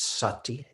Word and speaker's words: sati: Mindfulness, the word, you don't need to know Pali, but if you're interested, it's sati, S-A-T-I, sati, pronounced sati, like an sound, sati, mindfulness.